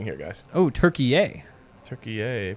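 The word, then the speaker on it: Türkiye: Turkey yay, pronounced like yay and Kanye.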